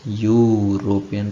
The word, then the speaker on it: European: we pronounce it as european right european right so at the beginning the sound of you which is you yeah which is also a diphthong right this is a